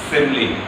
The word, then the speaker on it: simile: What is pronounced? Say simile.